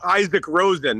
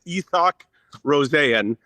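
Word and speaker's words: Isak Rosén: It's sort of like Yoel Arma. Um, so it's not Isaac Rosen as much as some people might want to say that. It's EOC Rosanne.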